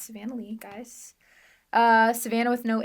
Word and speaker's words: Savanna Leigh: music feel free to let them know um Savanah Lee that's how it's pronounced sometimes it's Savannah Le but it's Savannah Lee guys uh Savannah with no h at the